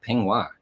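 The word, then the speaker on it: peignoir: extra keywords like uh ping waa now that's a different one we'll s how to spell that p e i g n o i r so yes that is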